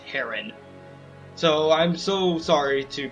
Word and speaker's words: Heron: Leron was one of the Huron clan, an ancestor of our Prince Racin. Okay, I've been told recently it's pronounced Heron, so I'm so sorry to people who I've